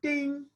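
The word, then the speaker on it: 听: Chinese character for listening wonderfully written the character pronounced as Ting year listen with your ear listen as if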